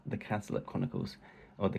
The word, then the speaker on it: Cazalet: her series called The Cazalet Chronicles, or The Cazalet Chronicles, as some people say, but I pronounce it in a sort of Essex way.